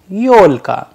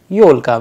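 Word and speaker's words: ёлка: pivots which means single yo like yo in audio i'll give you a russian example for this yolka yolka which means christmas tree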